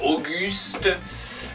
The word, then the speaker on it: August: Attention à ce mot qui ressemble à un vieux prénom français, Auguste.